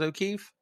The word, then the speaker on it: O'Keefe: Is O'Keefe?